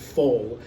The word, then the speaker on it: foul: is called it's called i think they pronounce it full but it's actually spelled what we would term foul f-o-u-l and it it's